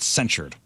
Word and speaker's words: censured: another word for that censored not censored but censured okay anyway Michael education breaking